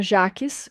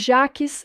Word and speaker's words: Jaques: Stephanie Corsby ou Viena Jackes, como diriam os americanos. Mas Jaques é a pronúncia francesa.